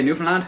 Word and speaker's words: Newfoundland: As I said, the faster you say this word, the better it sounds. If you can hear all the letters that you're pronunciating when you're saying it, you're not saying it fast enough, bye.